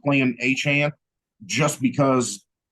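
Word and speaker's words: Achane: ] ran Johnson over Devon a a aan which is how you pronounce it now Devon aan and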